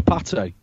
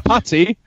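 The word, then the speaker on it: pâté: No, chicken liver pate. Yeah, like a chicken burger. Not a patty. Pate.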